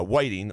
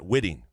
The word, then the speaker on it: Whiting: to see jack white is pronounced uh whiting like the fish not witting noted uh three can't